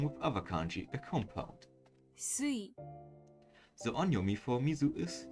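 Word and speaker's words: 水: The reading changes and sui, it is pronounced sui.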